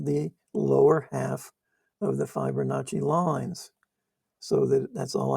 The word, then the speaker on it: Fibonacci: So now you can see um how to use the um Fibonacci. I want to say Fibonacci, but they pronounce the I's E in Italy.